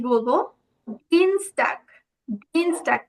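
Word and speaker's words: Dienstag: কি বলবো ডিনস ডাক এই যে দেখুন এখানে কিন্তু ই আর এ আছে তাই না ই আর এ থাকলে কিসের মত আউজপাখিটা হবে বলতে পারবে বলুন তো আনমিউট করে বলুন না ই আর এ থাকলে কিসের মত উচ্চারণ হবে আউস পাখিটা কিসের মত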